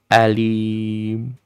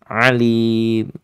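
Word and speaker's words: أليم: bin a izhar halqi Alim bin Alim jangan jangan sampai kedalaman ya alim jelas nanti maknanya sangat jauh Alim ya cukup begitu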